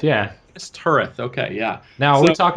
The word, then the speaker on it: Minas Tirith: You're gonna have to help me out with the pronunciation on this, Tyler. I think it's Wow. Minas Tirith. Is that right? Minas Tirith, yeah. Minas Tirith.